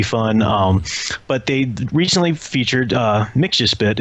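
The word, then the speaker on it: Mxyzptlk: But they recently featured Mixuspit, is how I always pronounce it. But I also know some very stubborn people say it's Mixapitalik or whatever.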